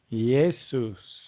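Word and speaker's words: Iesus: we call Jesus today began with the letter i how however it was pronounced with a Y like yesus the Latin likewise or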